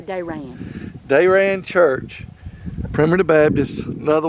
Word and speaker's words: Darian: It's spelled Darian, but the people around here say Darian.